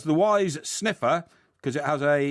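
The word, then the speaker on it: Wize: sniffer right because it's called a wise mirror but it's spelled w-i-z-e and it's being developed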